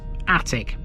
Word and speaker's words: Atwick: keep our Christmas trees attic despite being spelled at Wick it's pronounced in exactly the same way as the room in your house it's a Coastal Village